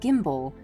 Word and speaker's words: gimble: Make the G hard in gyre and gimble, and pronounce wrath to rhyme with bath.